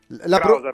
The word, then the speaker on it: Kraushaar: Emanuele Krausar dovrebbe essere, o Krausar la pronuncia vera. Comunque ce l'abbiamo e lo ringraziamo per questo. Buongiorno Emanuele. Buongiorno, sì. Krausar va bene.